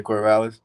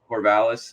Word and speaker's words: Corvallis: But, you know, so Corvallis, right? Am I saying it right? Is it? Yeah, Corvallis. Corvallis.